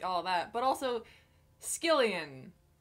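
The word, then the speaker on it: Skyllian: that but also skillion didn't think to pronounce it that way I was pronouncing it skyen in my head the entire time I might have even said scallion apparently I was wrong I guess it's more like a skilla or Shilla that that one Greek monster that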